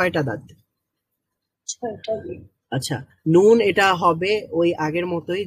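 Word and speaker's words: نون: ওকে, যে এখানে যেটা লেখা, নুন comes out when the edge of the tongue touches the gum of the top teeth from anayab to sanaya.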